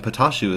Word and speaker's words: Patashu: And then as guests we have Prometheus himself and Patashu as well to relate Hello, some of his I'm Patashu.